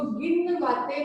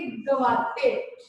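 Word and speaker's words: گنواتے: इसको पढ़ेंगे गवाते, नून साइलेंस के साथ। जैसे इंग्लिश में कुछ वर्ड्स होते हैं ना जो साइलेंट रहते हैं, तो उर्दू में भी कुछ वर्ड्स ऐसे ही होते हैं।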